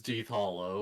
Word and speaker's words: DethHollow: Just straight up like Twitch's Death Hollow, which is spelled exactly as I say it. Oh yes, D. Remember, there's no A in death. DETH hollow. Yeah, YouTube is Because- the same.